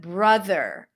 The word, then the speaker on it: brother: And then we go into the th and then an r. It's not a d. It's not a flap t. It's not brother, but brother.